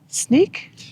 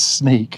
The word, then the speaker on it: Sneek: Sneek. It is sneak. And I think that's how you say it. It's a S N E E K.